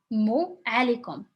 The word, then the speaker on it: alaikum: So you can put a vowel over here if you wanted to when you are pronouncing alaikum, but we really say it fast.